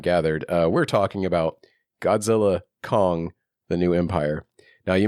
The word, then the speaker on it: Godzilla x Kong: the X dude uh you don't pronounce the X the studio officially came out and said you don't pronounce the X it's like God the